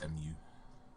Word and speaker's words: Mu: That's M-U, or Mu, how you want to pronounce it.